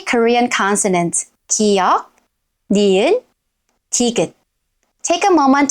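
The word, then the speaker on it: 기역: At the beginning of the syllable, it sounds most like g in go, but go lighter. K, k. It might sound like k at some point, but it's not k, it's k, k.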